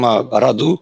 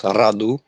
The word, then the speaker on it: Radu: Hey guys, I'm Radu. That's how you pronounce my name. It's a rolling R, so it's Radu.